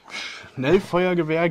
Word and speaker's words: Schnellfeuergewehr: Schnellfeuergewehr G3. You've heard it. That's how we pronounce it.